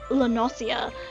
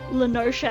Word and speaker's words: Lenosha: It's why for the longest time I kept pronouncing Lenosha as Lenosia, and for the longest time I hadn't heard any other character or any other player say the name. And then in an earlier quest, someone finally said Lenosha, and I'm like, oh my god, I've been saying it wrong this entire time.